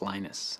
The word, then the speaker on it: Linus: speak Finnish it's Lino's when I speak English its Linus and I really don't